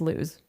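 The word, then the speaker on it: Luz: That is when Julio's wife, LSE, it's spelled L U Z, so it's lose.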